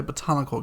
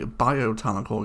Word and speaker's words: botanical: I also realised I've been pronouncing this wrong. It is called a botanical garden. I've been calling it, since 2015, a biotanical garden.